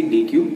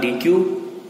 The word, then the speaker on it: deque: अ डीक्यू pronounced as डेक और डीक्यू, यानी कि डीक्यू जिसको हम प्रोनाउंस कर सकते हैं डेक या फिर डीक्यू, क्या है?